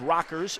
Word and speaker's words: Rackers: there for uh and Rockers is one funny because it's spelled like Rakers in Quincy, but it is Rockers.